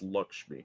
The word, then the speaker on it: Lakshmi: Lakshmi nephron yeah Lakshmi it's like lucky Lakshmi is pronounced Lakshmi banal akashimi how long